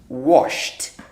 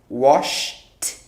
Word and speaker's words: washed: just say wash so this washed will sound like a t washed washed washed okay that's how